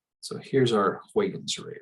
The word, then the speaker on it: Huygens: And so here's our Huygens. It's not how you spell it. It's not Huygens. So here's our Huygens ray right there.